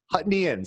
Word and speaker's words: Huttonians: neptunists outnumbered the hutt hutton hutton hutton hutnians huttonians that's how you pronounce it by like 10 to 1.